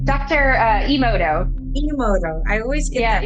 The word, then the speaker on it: Emoto: Did I pronounce his name? Dr. Emoto.